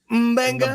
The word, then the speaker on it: Mbenga: Like It's Starrat, Mbenga. Mbenga. It's Mbenga. Mbenga. How hard is Mbenga. that? Mbenga. It's got a thing in there, and then there's no vowel, and it's probably an African dialect, and so it's Mbenga, right?